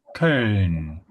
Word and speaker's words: Köln: So you can pronounce E. E. You need to stretch this E. E. Con, E. Okay. So once you pronounce E, E, you relax your lips.